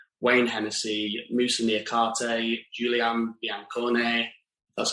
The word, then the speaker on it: Biancone: of dean henderson wayne hennessey musa niakarte julian biancone that's how you say it uh nico williams